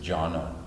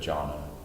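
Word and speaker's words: jnana: a yak-9 Amaya kosha you don't say the beat so it's just jhana that Jonna Jonna Maya kosha John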